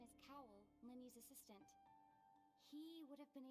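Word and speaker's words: Lyney: I keep trying to say his name is Liney, but that's not the case. Remember, Linny, like Lynette.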